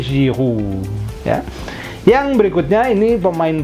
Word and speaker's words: Giroud: Olivier Giroud itu bunyinya U biasa di bahasa Indonesia dan akhiran D-nya tidak dibaca. Olivier Giroud ya.